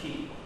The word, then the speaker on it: ki: This is the character for key. It's spelled K-I, but it's pronounced K-E-E, as in key turning a door.